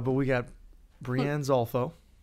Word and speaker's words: Breanne Zolfo: But we got Breanne Zolfo. That's how you say it, yep.